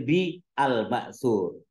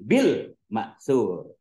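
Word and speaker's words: bil-ma'tsur: tafsir Bil Matur ya tadi kamu bacanya banyak yang salah bacanya tafsir Bi almur harusnya disambung tafsir Bil makur Tadi kamu di bilangnya tafsir Bi Ali harusnya langsung tafsir biri kan Alif lamnya Alif Lam Syamsiah kan ya Alif lamnya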